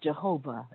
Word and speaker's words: YHWH: the name used was the yhwh that's sometimes pronounced jehovah as well okay so if